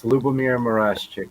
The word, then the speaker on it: Lubomyr Murashchik: It's Lubomyr Murashchik. That's yes, that is how you pronounce that.